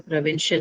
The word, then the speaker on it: provincial: So second one win because shell is the last one and the one before that is win. So provincial has win as the stress.